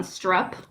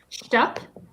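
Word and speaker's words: Shtupp: We can't forget like I said earlier, with I'm So Tired, Lily Von Strupp. Sorry, Stupp. I can't pronounce it correctly. Stupp is right.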